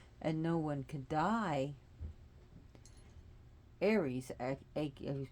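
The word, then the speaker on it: Ares: no one could die Aries pronounced IRS in Greek didn't think war was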